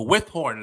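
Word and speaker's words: Withorn: So the Windthorne police reported that about 6:50 a.m., the Withhorn, let me say it right, because I don't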